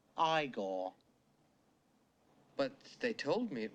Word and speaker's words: Igor: Frankenstein a lot more Frankenstein you must be eagor no it's pronounced igore but they told me it was eigor well they were wrong then die uh but